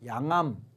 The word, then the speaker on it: 양암: 기록이 돼 있다는 거예요 양암 요건 양음이라고 읽지 않고 양암이라고 읽는데요 양암이라는게 왜 양암 있지는